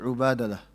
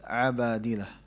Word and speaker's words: Abadilah: In class, I think I pronounced it Ubadalah. But I asked a few sheikhs later on because a couple of brothers pointed it out. It's not Ubadalah, it's Abadilah.